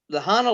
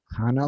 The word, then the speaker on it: Hana: words that's in Hawaii, but you got the Hana lava tube. Hana, Hana lava tube. Hana lava tube. Yeah. Okay. It is the it's in Hana. Is it Hana or Anna? It's Hana. How do you pronounce that?